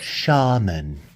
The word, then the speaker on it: Shaman: It's Shaman.